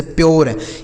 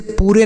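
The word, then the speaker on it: pure: जैसे प्योर इसे पूरे नहीं पढ़ते ना तो पूर्व पढ़ते कुछ नहीं इसे प्योर पढ़ा जाता है।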